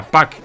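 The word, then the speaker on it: Pac-Man: como pucman en Japón en inglés se pronuncia pack en español sin embargo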